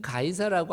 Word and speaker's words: 가이사: C 이렇게 됐기 때문에 C를 K로 발음해서 가이 어 S 해서 가이 4 이렇게 한 것 같아.